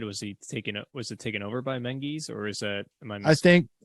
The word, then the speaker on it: Menzies: It is the story of Sir Stuart Graham Menzies is how you pronounce it. It looks like Menzies, but you pronounce it in their vernacular as Menzies.